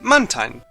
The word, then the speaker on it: Mantine: Well, if we break the name down, it's Mantine. So yeah, I've always pronounced it Mantine. Even the anime pronounces it as Mantine. Mantine! Now, Mantine! Mantine! Mantine? But the last part is spelled T-I-N-E. Tine.